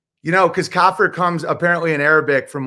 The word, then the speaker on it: kafir: That's why, I think that was our entire debate about what a kafir is, or kafir. How do you pronounce it?